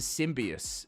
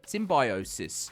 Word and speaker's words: symbiosis: A surge of shared affinity that turns survival into symbius sym- symbiois. Is that How do you say that? Symbi- symbiosis.